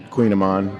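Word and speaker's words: kouign-amann: ofon there you go say it again Queen Aman Queen Aman yes that is not how it's spelled no it is not a phonetical item yeah what what is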